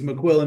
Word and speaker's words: McQuillen: It's a If you don't mind me saying it's McQuillin, but yeah, I joined the Marines in 199.